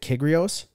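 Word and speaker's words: Kyrgios: for sure um what was another i can't pronounce his last name very well but nick uh is it kigrios is that right yeah yeah yeah yeah exactly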